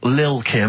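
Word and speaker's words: Lil' Kim: I'm pronouncing that correctly, Lil Kim. Oh, no T's involved.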